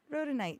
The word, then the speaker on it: rhodonite: is that how you say it wrote ro rhodonite yeah yeah that's right sometimes um uh and